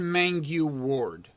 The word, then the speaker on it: Mangu-Ward: So it's Katherine Mangu-Ward.